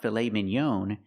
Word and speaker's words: filet mignon: It's not filet mignon, it's filet mignon. We use the ah sound, the open ah. Ah, like hot and stop. Filet mignon. Filet mignon. It's a French word, but we pronounce it like this in American English.